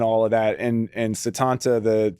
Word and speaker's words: Sétanta: And And Setanta, the the E has the accent, right? So, it is pronounced like an E.